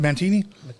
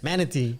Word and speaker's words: manatee: How do you pronounce it? Mantini? manatee.